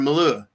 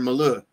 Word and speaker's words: Milei: And they express it extremely well, especially through Javier Milei and I can never say his name right, so I'm going to always mispronounce it as Javier Malou.